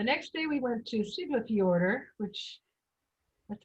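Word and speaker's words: Siglufjörður: The next day we went to Siglafjordur, which that's how that's pronounced.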